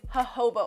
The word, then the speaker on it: jojoba: The next oil is jojoba oil. You might look at it and read jojoba oil, but you have to pronounce the J's with H's.